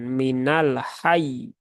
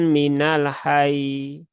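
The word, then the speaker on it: من الحيّ: Maka harus dinaberkan dengan cara ditekan minal hayy. Hai. Nah, begitu. Bukan minal hai. Hai. Nah, kalau hai itu tasdidnya nggak ada.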